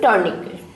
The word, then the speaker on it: tourniquet: तो ये जो आपने कपड़ा बांधा है ज़ख्म पे, that is called tourniquet. T is silent here.